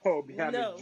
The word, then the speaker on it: Obianuju: Obianuju. No. I love that. That's a beautiful name. That's nice. See how you just pronounced it.